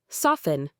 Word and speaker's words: soften: Soften.